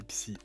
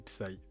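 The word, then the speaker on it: PSY: Elle a pas dit PSI, elle a dit psaï.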